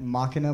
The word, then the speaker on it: Machina: Machina Machi... What? I don't know how. I say machina. Machina? You say machina.